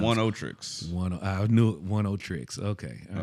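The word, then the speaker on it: Oneohtrix: Pronounce Oniotrix. I knew it. Oniotrix.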